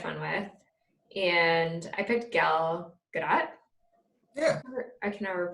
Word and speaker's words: Gal Gadot: with and I picked gal gadot I can never pronounce it Oh gal gadot you know you pronounce the T you're good the first time yeah okay so I picked gal gadot and we see her